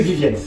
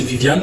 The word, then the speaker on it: Viviane: même de Vivienne et sur la pochette c'est écrit Vivienne peut-être la prononciation change ah non ah non en réalité le titre c'est Viviane mais je peux vous